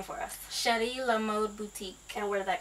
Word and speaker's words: Cheri La Mode: chrishana and she has the mobile Boutique Now pronounce the name for us sh La mod Boutique and where did that come from so